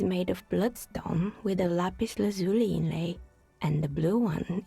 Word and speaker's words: lapis lazuli: Bloodstone for red and lapis lazuli, as I am continually being reminded that it is apparently pronounced, for blue.